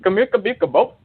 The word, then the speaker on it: Kamika Bikabop: My name is Kamika Bikabop. It rhymes like corn on a cob.